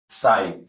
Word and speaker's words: sigh: SIGH, সাই। এর উচ্চারণ সাই। এর উচ্চারণ সাই। জিএচ এর উচ্চারণ হবে না।